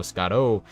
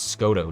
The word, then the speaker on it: Scotto: Like, oh, Scotto. Some people call it Scotto, too. That's the common one when people mispronounce it. But it's literally Scott with an O. That's how you say my name.